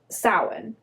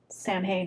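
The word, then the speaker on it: Samhain: So, we have the the custom of sin. Have you heard of that? Have you heard of Sam Hayne? No. Okay. English people pronounce it San Hane.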